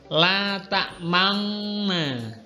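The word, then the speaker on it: لا تأمنا: Tadi kan mencampurkan dhammah pada sukun dengan memoncongkan bibir. Jadi bacanya adalah bismillahirrahmanirrahim. La ta'manna, la ta'manna, la ta'manna.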